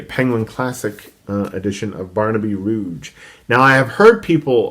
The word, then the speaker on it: Rudge: Just because my professor, my Dickens professor in graduate school, John Glendenning, always said Rudge.